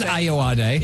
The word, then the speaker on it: Ayoade: I always wondered how you pronounce his surname. I didn't know it was Ayoade.